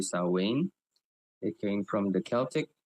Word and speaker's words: Samhain: It's spelled Samhain, but it's actually Samhain.